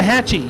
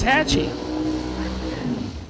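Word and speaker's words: Waxahachie: pronounce it waahi waah Hatchi you told me wrong you said you said Hatchi it's Hatchy I tell you what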